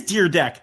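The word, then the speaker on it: Dyrdek: Oh yeah, it is Deer Deck. I got Mandela affected there. I always thought it was the R was before the Y.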